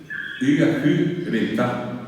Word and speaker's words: Yacyretá: y con otra gente, la pronunciación inicial no es ya, sino es Yacyretá era la palabra.